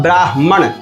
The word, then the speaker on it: ब्राह्मण: अब ब्राह्मण ये शब्द क्या हुआ? ब्राह्मण आधा हगा। ये देखिए आपको संधि विच्छेद यहां डाल दिए हुए हैं। ब्र आकार ब्रा और ह आधा है और म पूरा है और न है।